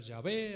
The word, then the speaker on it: Yahvé: Que algunos dicen que se debe de pronunciar Yahvé, algunos dicen que se debe pronunciar Yahweh.